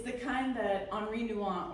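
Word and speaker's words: Henri Nouwen: It's the kind that Henri Nuant or as we Americans say, Henry Allen said was like carving out a part of yourself.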